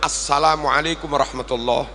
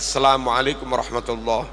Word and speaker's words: Assalamualaikum warahmatullah: bar Bapak Ibu rahimakumullah salam yang benar assalamualaikum warahmatullah bukan sekedar assamualaikum warahmatullah juga bukan assalamualaikum juga bukan lalu